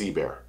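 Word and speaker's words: Ebare: a long time ago I know it's ebear I know it so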